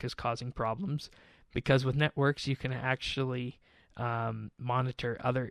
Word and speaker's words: NetWorx: So this is a Windows application called Networks. It's spelled with an X rather than a KS, so NETWORX.